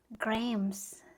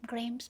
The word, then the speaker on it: graham: Hindi ko siya alam na ang pag-pronounce pala non is Grams.